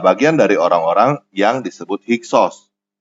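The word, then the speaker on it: Hyksos: dari orang-orang yang disebut hiksos hiksos adalah pelafalan Yunani dari kata Mesir kuno hekaukasut hekaokasut artinya adalah penguasa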